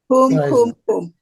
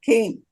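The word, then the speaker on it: קום: Why is it kum and not kim? Why is because it kim? Kum is the way you spell it when you write it. It's standard Yivo orthography. He sings Kim because that's the way his family spoke.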